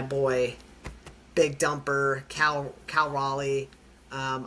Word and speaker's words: Raleigh: Um, so my boy Big Dumper Cal Cal Raleigh. Um, I know I've been saying Riley like half the time. Chat, I'm aware I've been saying it wrong.